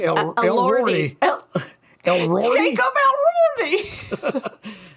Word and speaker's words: Elordi: Elroydi? Elordi.